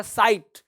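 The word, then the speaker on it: sight: अगला वर्ड क्या कहता है भाई, अगला साइट। GH क्या है, चुप है, साइलेंट है।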